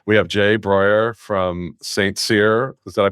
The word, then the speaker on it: St Cyr: this industry but we have Jay Brer from St seir is that I pronounce that correctly you got it yeah and